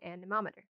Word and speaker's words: anemometer: an a nemo meter so if it's easier to remember a nemo meter a nemo meter and that is how i remember it because that's how i remember to spell it a nemo meter it's actually an anemometer but a nemo meter works okay and with the